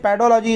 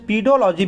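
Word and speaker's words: pedology: लेकिन ये पेडोलॉजी इज़ the best thing कि आप पेडोलॉजी को याद कर लीजिएगा। कभी कभी इसका प्रोनाउंसेंस पीडोलॉजी भी बोल देते हैं, लेकिन पेडोलॉजी इज़ द इसका करेक्ट प्रोनाउंसेंस है, इसको आप ध्यान रखिएगा, राइट।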